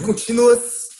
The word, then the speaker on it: continuous: Olha a pronúncia da palavra contínuo. Não é continuous. Fala assim, é brasileiro. Entendeu? Para falar certinho é present continuous. Continuous. Aberto. Ele tem o som de A, né? Final. Exatamente. Continuous.